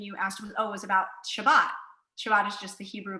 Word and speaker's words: Shabbat: Shabbat is just the Hebrew pronunciation for Sabbath, which just means to rest.